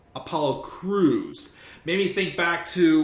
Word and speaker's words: Crews: And of course, Apollo's like, I guess he mispronounced his name. Apollo's like, it's Cruz. Apollo Crews.